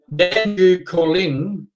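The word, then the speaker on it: Danjoo Koorliny: Now, Dandu Calling is how it's pronounced.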